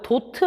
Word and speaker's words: 도트: 존중해서 타카 라고 씁니다 일반에 다트가 아니고요 도트 라고 읽어요 보트 라고 씁니다 5